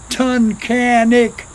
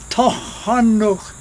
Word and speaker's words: Tunkhannock: Many people pronounce it Tunkhannock, but the closest verbal pronunciation I know, Tunkhannock.